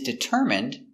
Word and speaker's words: determine: his goal he is determined to learn English determine d i d ER deter M determ determ it deter deter determine determine determine stress is on the third syllable determine determine determine what